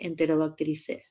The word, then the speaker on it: Enterobacteriaceae: De los microorganismos patógenos de Enterobacteriaceae. Enterobacteriaceae. Enterobacteriaceae. Cuando se dice EAE, la pronunciación es E.